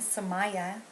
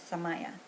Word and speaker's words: Samaya: In loving memory of my mom, I made my nonprofit organization, which is named Samaya, after her artistic name, and it's pronounced Sum, like S-U-M, I, like E-Y-E, Ya, Samaya.